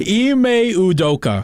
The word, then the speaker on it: Ime Udoka: I don't know how to pronounce his name. Okay, I'll do it. Ime Udoka.